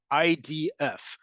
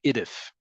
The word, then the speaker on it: IDF: DF Israel Defense Forces in English we often don't pronounce acronyms as independent words great example IDF yes it's an abbreviation for Israel Defense Forces but we don't say idith no one says idth if they did no one would know what they're talking about but in Hebrew we